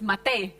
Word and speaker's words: Matej: Matej, would you like to know how do we pronunciate your name in Slovene language? Sure. Matej. It's Matej. Matej.